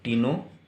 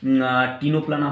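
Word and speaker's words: Ctenoplana: उसके बाद और एक एग्जांपल बताएंगे यहाँ पर, टिनोप्लाना, CTENO, टिनोप्लाना। और टिनोप्लाना का ये जो C है इसका प्रोनाउंसिएशन साइलेंट रहेगा सॉरी बच्चों। अब देखिए, टिनोप्लाना हो गया, प्ल्यूरोब्रांचिया होगा।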